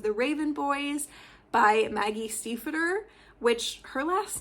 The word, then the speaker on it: Stiefvater: me to pronounce it the correct way, which is the American way, and not actually the traditionally correct way, which is the German way.